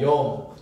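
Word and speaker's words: יום: 하루 24시간 요거 발음이에요. 따라합시다. 욤.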